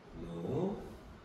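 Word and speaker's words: ぬ: 자, 요것도 누. 약하게 발음하면 느처럼 들리기도 해요. 누. 나니 느. 자, 얘는 확실히 스, 치 이렇게 되는데 얘는 누로 보시기 맞습니다.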